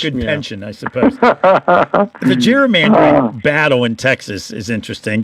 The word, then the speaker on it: gerrymandering: Folks might be interested in where that came from, gerrymandering. It came from a governor of Massachusetts by the name of Governor Gary. Actually, it was a hard G, but we've changed it to a soft G.